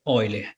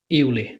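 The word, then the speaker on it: Euler: francisco reis excelente professor a pronúncia correta é vai ler a gente pode aportuguesar para eu ler mas eu prefiro olha só então vou chamar de óleo é porque a pronúncia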